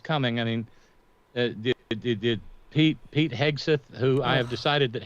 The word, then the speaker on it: Hegseth: I mean, did Pete Hegseth, who I have decided that Hegseth is actually